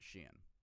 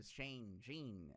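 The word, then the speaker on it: SHEIN: It's pronounced sheen. All right, so I don't want to hear Shane.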